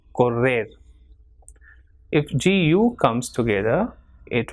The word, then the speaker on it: correr: If two R's, that is doble R, comes together, it will pronounce as R. So, perro or correr.